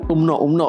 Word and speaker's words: UMNO: UMNO bacanya.